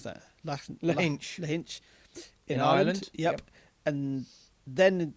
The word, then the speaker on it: Lahinch: And have you got any idea how you pronounce that? Lahinch.